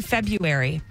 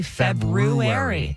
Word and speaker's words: February: every year is Feb I say February but if you look it up you're supposed to say February yeah nobody says that